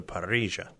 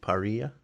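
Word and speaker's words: parrilla: is a Wood-Fired Grill they call it a paria it's an open pit with you know a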